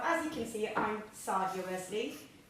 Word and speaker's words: Saydia: and design so as you can see I'm sardia Wesley it's pronounced s my dad spelled it wrong um